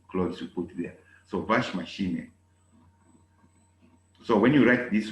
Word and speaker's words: Waschmaschine: Waschmaschine. Waschmaschine. I spell it buchstabiere.